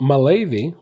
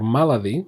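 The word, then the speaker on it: Malady: good command Tower foil Temple of Mali or maladi depends on whether you want to say it right or wrong you can already see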